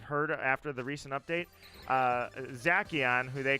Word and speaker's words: Zacian: Journeys or not, but apparently it's not Zacian. It's Zacian. And I'm like, how do you figure that's Zacian? That makes no sense. But yeah, that's how you pronounce that Pokemon's name, apparently.